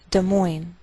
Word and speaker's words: Des Moines: Note that we treat the name of this capital like one word, and the greater stress is on the second part, so we say Des Moines, Iowa.